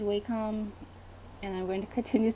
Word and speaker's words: Wacom: I've always said Wacom, and I'm going to continue to say Wacom. Wacom just sounds like whack-a-mole or something.